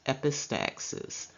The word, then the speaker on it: epistaxis: system such as the term epistaxis it is pronounced epistaxis and epistaxis is better known as a nosebleed